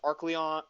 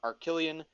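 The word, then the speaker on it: Arcleon: uh we have pyrus arc leon arcillion as he's pronounced in the show arc leon and tcg technically and dorcas mutisek now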